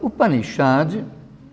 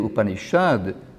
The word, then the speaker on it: Upanishad: Porque, na verdade, a transliteração correta seria com um S com um pontinho embaixo. Isso se pronuncia mais ou menos Shad, como também nos nomes Krishna e Shiva. Esse S se diz que é retroflexo.